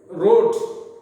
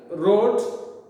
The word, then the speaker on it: wrought: Once again, we were cast and wrought the hammered to design. Here wrote, but word are different, pronunciation is different. Why? Because in that word W is silent is there.